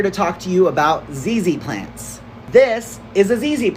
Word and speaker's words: ZZ: Hi, I'm Brandon, the plant guy, and I'm here to talk to you about ZZ plants. This is a ZZ plant. It rhymes with the word easy because it's actually easy to care for.